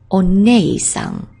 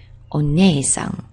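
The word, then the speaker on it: お姉さん: She's interested in horses, so we can give a horse's neigh to remember that she is onei-san, onei-san.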